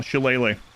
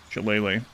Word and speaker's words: Shillelagh: They also have Guidance, Poison Spray, Produce Flame, Resistance, Shillelagh. That's not how that's pronounced at all. Shillelagh. Her staff or club become magical. Shillelagh.